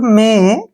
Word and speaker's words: may: SK इकट्ठा आए तो वहां पर ए का उच्चारण आ करना है। क्लियर। रूल नंबर 6 देखिए, जब किसी वर्ड में ए के बाद वाई आए तो ए को